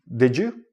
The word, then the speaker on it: did you: you're connecting words and you have a D and a Y together, it becomes like a J sound. Did you?